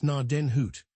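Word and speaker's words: Gnadenhut: 103 pronounced narden hoot.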